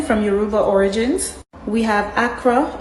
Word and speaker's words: akara: We have akara. In certain islands it can be pronounced as akwa or akara.